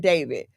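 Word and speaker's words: d4vd: His name, he goes by David, right? You pronounce it David, but it's spelled D4 V D.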